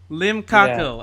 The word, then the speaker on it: Limcaco: Limcaco.